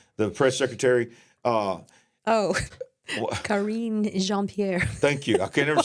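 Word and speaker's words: Karine Jean-Pierre: know what they were careful to say that karon braine what's her name I can't never say her name the press secretary uh oh Karen jeanpierre thank you I can't never say her name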